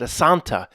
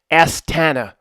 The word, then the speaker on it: Astana: the the name right it's not a Santa it's aana you know what I think because it's not elk Travel Tours I should pronounce it correctly estana the name today will